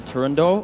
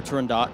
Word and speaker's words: Turandot: First off, so this is Nessun Dorma from the opera Turandot, or Turandot, depending on how people pronounce it, by Puccini.